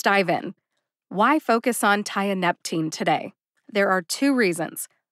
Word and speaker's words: tianeptine: about what it is tianeptine has four syllables Thai like you tie your shoes uh like that lovely schwa a sound ah NEP like the planet Neptune and teen like